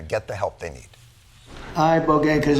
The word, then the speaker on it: ibogaine: injuries underwent, it's called ibogaine treatment. Ibogaine. Remember the name. Is that pronounced relatively properly, would you say? Yes. I don't want to get it wrong. Ibogaine. Body. Ibogaine. Rogaine with an ibo.